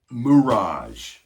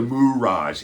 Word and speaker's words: mirage: Singer pronounces the word mirage. I'm just a mirage. It's mirage, not mirage.